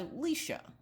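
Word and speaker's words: Lisa: Alicia I do not like the way it's pronounced I go by leysa l i s a and then my last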